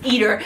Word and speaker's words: Eder: That my name is pronounced as Eder because I like to eat food and I'm an eater, damn it. So that's my name, Eder.